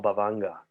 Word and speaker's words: bhavanga: um in buddhism that we call bavanga bhavanga is it's and that's spelled b-h-a-v-a-n-g-a it's a poly term uh it's also used